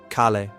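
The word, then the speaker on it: calle: The double L or L L sounds like Y in most Spanish-speaking countries. Street. Kalle.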